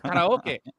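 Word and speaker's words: カラオケ: You oh, stupid karaoke. white man. It's karaoke, right? And I'm like, oh shit, yeah, we're not even pronouncing it the way we would pronounce.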